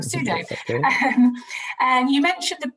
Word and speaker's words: Sudo: There is another question coming in from one of our viewers to Mr. Sodu. Sorry, I keep on getting your name wrong, Sudo.